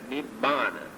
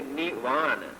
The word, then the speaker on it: Nibbana: In the Pali language, grammatically, when we join two words, we had to change the letters for our pronunciation. That is why we pronounce this as Nibbana. We never say Nirvana.